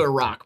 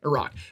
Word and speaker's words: Iraq: safe or anything yeah it's also a rock by the way that's a that's how it's said okay a rock but yeah you don't